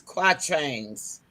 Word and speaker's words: quatrains: It's spelled QUATRAINS, just like trains.